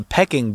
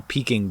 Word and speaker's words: Peking: peaking buffett yeah and i thought it was the pecking buffet but it's actually the peking buffet yeah i ate there